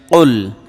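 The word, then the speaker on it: قُلْ: কুল ইয়া আইয়ুহাল Kafirun calf লাম পেশ কুল এটা কিন্তু বড় কাফ এটা কুল একটু চাপ দিয়ে যেন কলকলার মত ধাক্কা দিয়ে উচ্চারণ করতে হয় ঠিক আছে এটা কুল না মানে মধ্যখান পেঁচানো কাফ দিয়ে না এটা মাথায় রাখবেন না হয় অর্থ পরিবর্তন হয়ে যাবে প্রিয় দর্শক ইয়া এই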